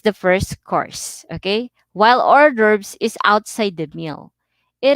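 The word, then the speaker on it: hors d'oeuvres: or cold appetizer so our verbs are pronounced orders okay so orders is pronounced or derps okay so when you see this word you will pronounce it or derbs so appetizers are open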